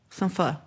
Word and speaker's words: pho: They say we say it wrong. It's pho. P-H-O.